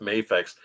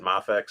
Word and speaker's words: Mafex: than the McFarland one yeah I thought it's pronounced mayx I don't know I I I thought it was mayx at the beginning but everybody you know corrected me said mafex so call it I've been